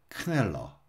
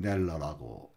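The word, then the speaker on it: Kneller: 17세기 말경에 독일의 올가니스트이고 작곡가이며 성가대 지휘자였던 안드레아스 크넬러, 영어로는 그냥 넬러라고 읽습니다.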